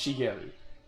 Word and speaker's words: Shigeru: It's Shigeru.